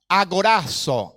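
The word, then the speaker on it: ἀγοράζω: la palabra redención redimir qué se pronuncia a corazón a corazón a corazón con zeta a corazón este término quiere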